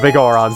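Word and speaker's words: Biggoron: lickety split with the big on sword or the big oron sword as I prefer to pronounce it so that people don't misconstrue my pronunciation with me saying something else, you know.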